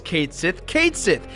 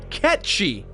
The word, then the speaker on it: Cait Sith: You mean Ket Shi? See, this is where it gets really annoying, dude. The game calls Cait Sith, but the correct pronunciation is in fact Ketchi.